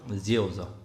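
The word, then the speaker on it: rượu: 지오저. 베트남어로 술이 굉장히 어려운 발음입니다.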